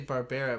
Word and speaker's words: Barbera: I think it's especially funny because we always say Barbera, but it's spelled the same way as Barbara.